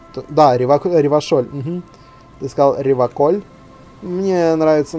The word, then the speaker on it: Ревашоль: В отличие от других, он говорит Реваколь через К. Да, Ревашоль.